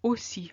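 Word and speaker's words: aussi: and then you've got the O of OC which is spelled a u and in OC means as well or two as in me too and you see it's exactly the same as the closed o of Metro there is no difference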